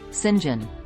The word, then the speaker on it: St John: are Mary Diana and Saint John pronounced Sinjin rivers and Jane quickly